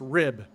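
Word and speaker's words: RHIB: vessel of the class RHI be pronounced rib rigid hull inflatable boat what civilians might call a rubber boat she was a real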